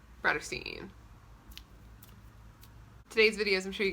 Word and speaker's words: Bratterstein: name is brittany and my channel name is pronounced broad of scene today's videos i'm sure you gather from the